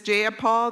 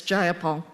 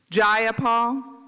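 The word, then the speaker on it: Jayapal: Do do you agree with Miss Jipal that there was no takeover? It was just If you're going to say my name, please say it right. It's Gyipol. Gyipal.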